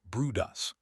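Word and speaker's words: Bryde's: On 10 separate occasions, they spotted a group of elusive whales known as bride's whales, pronounced broodus.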